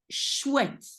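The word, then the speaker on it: chouette: pronounce it like but when you see it written look at it it's not all the same as what you hear is also a little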